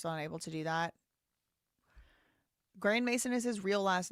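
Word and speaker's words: Grandmaison: I mean, it's spelled M A I S O N, but it's M mess. Grand Mesa.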